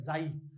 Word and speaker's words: PSI: त्रिशूल जैसा होता है, इसे हम कहते हैं जाई, ठीक है। स्पेलिंग बता देता हूं, ये स्पेलिंग होता है PSI, तो अब या PC मत बोल देना इसको, ठीक है। ये जाई होता है, जैसे साइकोमेट्री होता है ना, P साइलेंट होता है, ऋतिक रोशन में